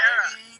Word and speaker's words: Kara: My name is pronounced Kara, right? Kara like Sarah. Yeah. Yeah. I was like, you guys say are pronouncing it wrong. Kara.